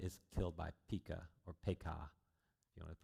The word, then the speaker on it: Pekah: Pekahiah is killed by Pekah, or Pekah, if you want to pronounce it correctly.